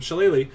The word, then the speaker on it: shillelagh: druid who likes to, you cast shillelagh, which is how you pronounce that word, by the way. You cast shillelagh on your stick.